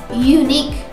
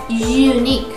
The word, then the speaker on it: unique: on the beginning sound unique unique that is the pronunciation of this word we see a you right but we hear a consonant sound you are unique change